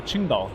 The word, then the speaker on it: Qingdao: Qingdao. I would have thought Shangzhou. Shanzhou. No, Qingdao. It's with a Q.